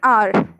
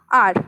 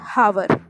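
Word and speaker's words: hour: not pronounced now an r and r h o u r it starts with h but it is pronounced as r not hover right so h is being silent here and r is being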